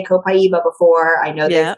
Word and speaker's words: copaiba: when they were sourcing it's pronounced more copaiba right I always call it kopa well and I don't think it there's a right or wrong way because even within the founders the seven founders of dotera they all say it differently as well so you